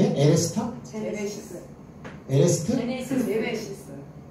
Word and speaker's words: 제네시스: 제네시스. 에레스트? 제네시스.